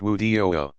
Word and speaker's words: wudu: Prior to each act of ritual prayer, Muslims perform a brief purification called wudu, pronounced wudu.